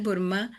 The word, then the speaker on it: burma: Y Daisy dice, Burma tiene el acento en la sílaba final, Burma, como es común en turco.